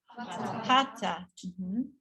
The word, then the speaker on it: hatha: And then next one, hatha.